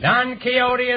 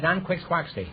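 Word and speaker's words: Don Quixote: is the character or character Sancho Panza Panza don keyote don keyote is right until I was until I was 40 years old I pronounced that D quick quy and I have $18.25 I prefer nqu squi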